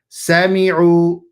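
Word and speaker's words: سَمِعُوا: Do not extend that sin. Sami'u. So sin with a fatha, meme with a kasra, sami.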